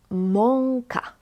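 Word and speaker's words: mąka: This a with a tail is pronounced differently in different contexts. And here this is like mona mona like you have king kong. So this is this kong mona mona.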